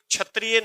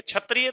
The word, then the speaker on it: क्षत्रिय: तो दोस्तों याद रखना ये छतरियां नहीं है क्षत्रिय तो ऐसे लिख डॉग भाई आप छतरियां तो ऐसे लिख डॉग ये छतरियां थोड़ी है ये तो क्षत्रिय है तो इसका उच्चारण शुद्ध कीजिएगा तो अब क्या